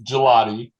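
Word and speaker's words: Gillotte: But he's had it's Gelati. Gelati. Okay. Yeah, a lot of people mess that up. He like what you would go to the store and get, and it's nice and cold and it tastes absolutely. But yeah, Gelati, he's going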